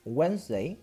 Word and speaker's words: Wednesday: Wednesday tiene una letra de esas, que vendría a ser la D. Por eso se dice Wednesday.